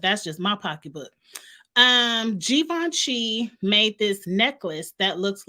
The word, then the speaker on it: Givenchy: Cali and not uh I call him Givenchy that ain't how you say it I thought it was given she Givenchy it's Givenchy for me but anyway why nobody